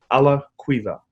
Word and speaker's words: Alaquiva: my first name is pronounced ma it's three syllables and lastname is a laqueefa a la cueva thank you appreciate it it's it's good to